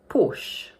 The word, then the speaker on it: Porsche: In the original language, it's pronounced with two syllables: Pors-che. But in English, we pronounce it as one syllable only, like this: Porsche Porsche How would you pronounce this next make?